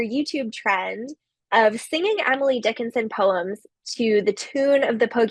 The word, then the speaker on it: Dickinson: Dickinson, on the other hand, which is also 3 syllables, all the syllables receive a similar level of stress. So I've labeled them as unstressed syllables, Dickinson, right? Our voice isn't really emphasizing one over the other.